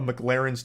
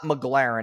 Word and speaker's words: McLaren: spends filling up a McLaren's tank okay so this part pisses me off because he says the name wrong like eight times in a row it's not McLaren it's McLaren okay so that's how we